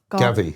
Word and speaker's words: Gavi: And then how do you say Gavi or Gabby? Gavi.